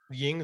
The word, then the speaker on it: YG: It's Michael Ying. Ying, is that how it's pronounced?